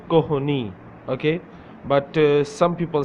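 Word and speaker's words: کہنی: Some people say Koni and some people say Kohni. Okay, it's up to you. Kohni, Kohni, Kohni, Koni. Some people do not pronounce H sound.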